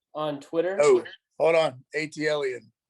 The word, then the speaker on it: ATL_EN: n or atlan on twitter oh hold on atlan atlan that's how you pronounce it yeah okay let's go so six